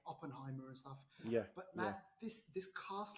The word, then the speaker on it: Oppenheimer: me on oppenheimer am i saying it right oppenheimer yeah you scored me and who it was